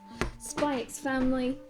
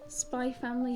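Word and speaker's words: SPY×FAMILY: means one shot next spikes family spy family you don't pronounce the x i have learnt that spy family volume four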